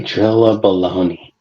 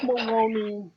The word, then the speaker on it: Maloney: Did you say Drilla Baloney? Yeah, Oh gosh. You just something else, man. You and these names. I Hooked mean, on phonics, sir. his name is Maloney. It rhymes with baloney.